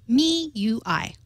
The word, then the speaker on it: MIUI: I had been mistaken Mi UI is correctly pronounced me UI MIUI yeah he sent